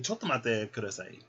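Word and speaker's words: ちょっと待ってください: How do I say chotomate kudasai?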